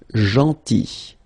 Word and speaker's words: gentil: Then, gentil. So remember this final L is not pronounced. Gentil.